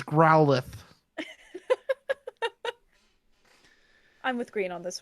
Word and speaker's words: Growlithe: Hisuian Growlithe? Say that name again. Growlithe? The TH is really soft. Say and it I again. Growlithe. Wrong. Oh yeah? How do you say it? It's Growlithe.